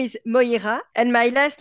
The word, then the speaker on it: Moïra: so thank you so much how do you pronounce your name and your last name correctly my first name is MOA and my last name is like